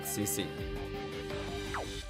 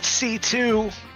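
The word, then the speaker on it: C.C.: behind Zero Recquum and has been secretly assisting CC. You want me to correct you? Sure. It's pronounced C2.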